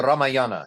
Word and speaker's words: Ramayana: I'm still not entirely sure how to pronounce it. The Ramayana. The Ramayana, you got it.